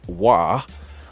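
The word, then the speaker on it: Roy: know all about hockey I know his name is pronounced why the Colorado Avalanche achieved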